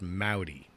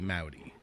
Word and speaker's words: Mowdy: For the record, it is pronounced Mowdy. Here's the way that I the mnemonic device that I've come up with. When you say hello to me and it rhymes, you're pronouncing it correctly. Howdy, Mowdy.